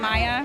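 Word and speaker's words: Miah: great way meaning that we call him maya his name is spelled m-i-a-h and to me that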